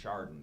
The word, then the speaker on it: Chardon: They don't know what a Rolodex is, and as our TV friends know, that they still trip over how to pronounce Chardon correctly. It's not a hard CH.